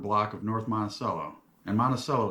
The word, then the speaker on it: Monticello: of</b> <b>North Monticello and Monticello is how we</b> <b>pronounce it in Chicago.</b> <b>I also have no